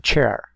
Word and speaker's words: chair: La pronunciación chair. La I muda. La vocal A está sonando como E.